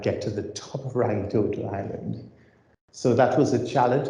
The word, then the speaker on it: Rangitoto: And this is, as is pronounced here, Rangitoto Island, Rangitoto Island.